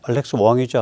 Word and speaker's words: Wong: 트럼프가 이제 백악관 국가안보수석 보좌관의 알렉스 왕이죠. 알렉스 왕. 황 씨입니다. 우리 한자로 쓰면 황을 캔토니즈에서 그러니까 광동어로 왕이라고 읽는 것 같아요.